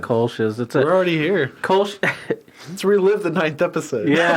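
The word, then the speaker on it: Kölsch: Kolsch. Let's relive the 9th episode. Yeah, it's just notes from that. Yeah, Kolsch is a style of beer brewed in Cologne, Germany.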